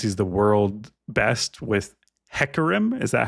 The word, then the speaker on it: Hecarim: Dante's League of Legends, he's the world best with Hecarim. Is that how I pronounce this champion? Hecarim.